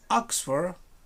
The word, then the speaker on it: Oxford: right what is this oxford circus the same thing there there are no circles here oxford you um stress the word in the first celeb oxford not oxford please